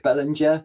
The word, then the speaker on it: Bellinger: So if you find me on LinkedIn, it's Bellinger, which is spelt Bellringer without the R in the middle.